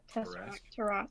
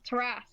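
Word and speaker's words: Tarrasque: How do you pronounce that? Tesseract. Tarask. That's it. Oh, Tarask. The Tesseract. That's a different thing. That's something else Yes, completely.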